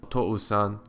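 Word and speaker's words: おとうさん: Similarly, if you pronounce the word for father, otou-san, quickly, otou-san, otou-san, otou-san, it sounds like one long vowel sound.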